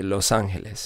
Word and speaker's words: Los Angeles: Should be Los Angeles.